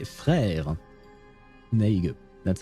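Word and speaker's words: frère: And in French, you say Fra. There you go. That's how it's written. And it's pronounced Frra.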